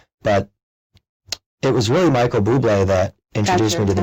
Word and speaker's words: Bublé: up from school, and I saw this CD, and it said Michael Bubble. Michael Bubbles. And I said, Mom, what is this? Right? Who is Michael Bubble? Poor And guy. she was like, no, it's Bublé. And I'm like, you know,